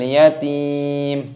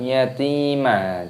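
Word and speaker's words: اليتيم: Fadzalikal ladzi yatu'ul yatim, bukan yatima, itu bukan.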